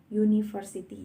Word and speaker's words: university: Kenapa di sini memakai Karena cara membacanya adalah menggunakan huruf konsonan, yaitu university berawalan Y, university.